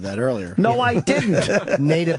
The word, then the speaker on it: Nada: It's Nada, right? Nada. Nada, not Nada. Yeah. Nada. Nada means nothing. That's terrible. Well, you said that earlier. No, I didn't. Nada.